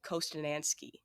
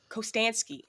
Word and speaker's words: Kostanski: and directed by Stephen kostanski co co kostanski I don't know why I added extra syllables in there but yeah he just